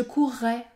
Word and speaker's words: courrai: double écoutez bien je courrai je courrai il acquerra il acquerra tu concourras tu concourras dans ces trois verbes j'ai prononcé un r double cela permet par exemple